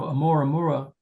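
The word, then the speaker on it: ʻOumuamua: So, Amoraura, that's how you pronounce it, um, was the second one that we've seen.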